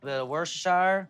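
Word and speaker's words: Worcestershire: Ranch dring chipotle peppers B worshire like to call it woooo cuz not everybody knows how to say it or spell it your own way is woowoo plate it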